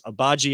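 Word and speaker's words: Agbaji: the cavs picked ochai abaji out of kansas i hope i'm saying that right i will make sure i get the pronunciation right i know it's obaji has his last name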